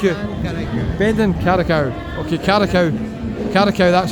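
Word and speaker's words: Karaköy: Carricow, that's how you pronounce it.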